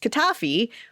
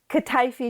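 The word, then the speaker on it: kataifi: the pastry part right, which I'm going to mispronounce, but it was kafi.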